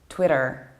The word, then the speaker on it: Twitter: how about this one it is not Twitter or Twitter this is Twitter an American accent is Twitter even though the post